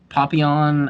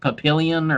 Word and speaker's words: Papillon: or American English speakers, we want to pronounce it as Papillion or something. Papillion. Yeah. It's But anyway, Papillon. But it's weird, like so, like that double Papillon. L is pronounced differently in Paris. Papillon. Yeah, I think it's pronounced Papillon.